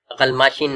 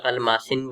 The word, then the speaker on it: غلماشن: غلماشن ہے, غلماشن کی جگہ غلماسن پڑھی, تو پھر اس سے بھی جو ہے فرق پڑتی ہے.